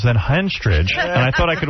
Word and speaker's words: Henstridge: Natasha Henstridge, who, of course, is a beautiful woman. And the only actress whose name rhymes with ostrich.